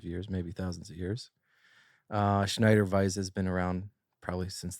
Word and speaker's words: Schneider Weisse: How do you pronounce that? Yeah, Schneider Weisse.